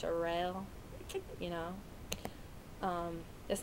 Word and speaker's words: Cheryl: people call her Charelle it's spelled like Cheryl but it's pronounced Charelle you know um that's